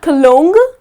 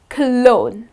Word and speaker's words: cologne: okay to smell nice so again the letter g here goes silent it's not colonel but it's clone that's the correct pronunciation another word which is